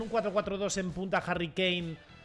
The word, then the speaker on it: Kane: verdad Cómo se dice yo siempre llamo kane porque es kane no Harry kane ciudadano kane es que es kanin no kin por qué me ponen